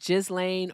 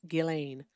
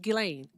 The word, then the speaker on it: Ghislaine: I correct people when they say Ghislaine Maxwell's name wrong because her name isn't Ghislaine or Ghislaine. It's Ghislaine. Just Ghislaine.